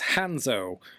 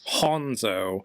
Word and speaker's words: Hanzo: time I say it in England it's hands o in here it's Hanzo much like I would